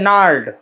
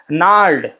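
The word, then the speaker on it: gnarled: था यार अभी देखिए यहां पर जी लिखा है लेकिन उसको हम बोलते हैं नार्ड जी साइलेंट है यहां पे क्या बोलते हैं इसको नार्ड ठीक है जी नहीं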